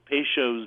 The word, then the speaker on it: Peychaud's: No wonder I couldn't spell it. P-E-Y-C-H-A-U-D apostrophe S. Peychaud's bitters.